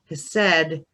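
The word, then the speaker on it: Chesed: Over here we have Hesed, and that C is kind of silent, and that means mercy.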